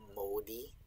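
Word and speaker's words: mōdig: you have the word modi if someone's modi it sounds like moody and that's where moody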